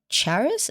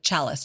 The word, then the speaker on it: chalice: And sometimes it appears so supposedly this Holy Grail is the charis? Is that how you say it? The chalice.